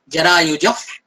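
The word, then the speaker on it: जरायुजः: जो जरायुज के बाद जो विसर्ग बिंदु है, जिसको 2 डॉट आप सबको दिख रहे हैं, उस विसर्ग बिंदु का उच्चारण आपको यहाँ पे फ करना है। फ क्यों करना है? क्योंकि विसर्ग बिंदु के बाद जो वर्ड नेक्स्ट वर्ड आया है प्र, उस प्र प फ ये अगर वर्ड आते हैं तो उसका उच्चारण फ होता है।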